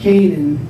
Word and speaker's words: Kanin: it off and so i kept k-a-n-i-n but i pronounced it kanan because i wanted to